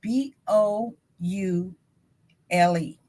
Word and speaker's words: boule: this fraternity called boule b o u l e it's pronounced boule and boulay is like French if I'm not mistaken boulay is French um